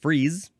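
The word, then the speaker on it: frieze: Uh so we shall move on to the second form of this word which is this one is only pronounced freeze.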